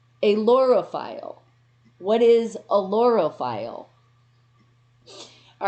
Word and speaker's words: ailurophile: I think it's aerophile. Aerophile. And it's spelled AILUROPHILE. Yes, that's a really hard one. And that is in English, all right? But here it is. This is the pronunciation. You ready? Alorophile.